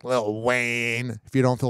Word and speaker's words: Lil Wayne: you're probably wondering why when I say Lil Wayne I'm saying it like that cuz when you're talking about old school wazy you got to say it like little Wayne if you don't feel